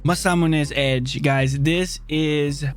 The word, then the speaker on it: Masamune: okay my man danny boy tells me it's pronounced masamune so that's what we're gonna say masamune is edge guys this is a vital part